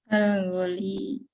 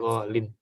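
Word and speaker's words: غالٍ: Kalau ada alif lam bacanya gimana? Al-ghali. Al-ghali. Tapi kalau tidak pakai alif lam, maka jadi ghalin.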